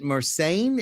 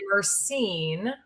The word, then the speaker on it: Mercein: Jenny, and now please, I would pronounce it Mercein. Is that correct? Or how do I pronounce it? You would be not the first to do so, but it's actually Mercein.